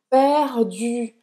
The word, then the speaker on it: perdu: Então, perdu. Perdu. Porque muitas vezes é a vergonha de achar que é meio ridículo fazer esse biquinho que faz as pessoas não pronunciarem bem o francês.